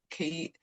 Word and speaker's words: qi: is, but it's um I think some people spell it QI key. So it's like martial arts. Yeah. Key. Yeah. But my Japanese mentor calls it key.